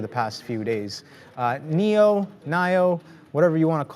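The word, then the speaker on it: NIO: few months on YouTube we were all saying Nao and then the chat was just hammering us so like you guys can't even pronounce the name of the company like oh yeah okay well it's Neo and then we got it corrected and now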